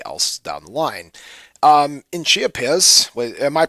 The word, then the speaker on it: Chiapas: In Chiapas, am I pronouncing that right, by the way? Yeah. In Chiapas, the southernmost state of Mexico, the insidious entity